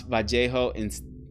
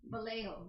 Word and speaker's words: Vallejo: Californians call it Vallejo. Yeah, some California. Yeah, the majority of Californians, that's the way I thought pronounced it. I don't think there's any wrong way to pronounce it.